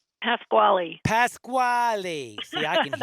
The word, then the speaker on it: Pasquale: And again, I'm talking with Lauren Pascal. No, it's three syllables. Say it. Pasquale.